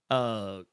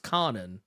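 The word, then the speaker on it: Kwannon: I mean like Quanon, or as I've recently learned, is actually pronounced Kanan or Kanan or whatever. I've heard something along those lines, but whatever. I don't know. I've been saying Quanon my entire life, so we're just gonna go with that.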